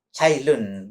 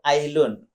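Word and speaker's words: Ts'ai Lun: Cailun. Saya sempat ngecek itu tulisnya TS kemudian apostrof Ailun. Sebagian bacanya Ailun, ada yang bacanya Sailun, ada yang juga baca Cailun.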